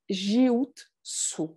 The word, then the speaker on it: Jin Shin Jyutsu: C'est-à-dire, à partir du moment où vous savez que le U en japonais se prononce U, et c'est de prononcer toutes les lettres, jiutsu. Jin, shin, jutsu.